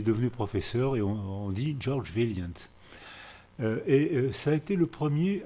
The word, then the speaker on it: Vaillant: Les premiers travaux qui ont été faits à Harvard par George Vaillant. Ça se prononce comme ça en américain, mais c'est sûrement un